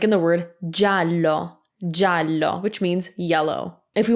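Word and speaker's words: giallo: it's not geovedi it's gia will make ja so that softens that hard g from before so ga is ga gi a is ja like in the word jallo which means yellow if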